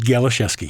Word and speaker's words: Galisewski: His name is Ed Galisewski. I'm getting that right, aren't I? That's good. Ed Galisewski, yep.